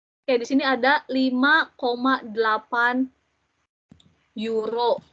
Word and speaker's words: Euro: Oke, bisa cepet nih ya ke euro. Oke, di sini ada 5,8 euro. Euro itu kan ditulisnya EURO. Sekarang kita nggak bacanya euro lagi, nggak. Tapi udah euro ya, karena EU nya OI. euro.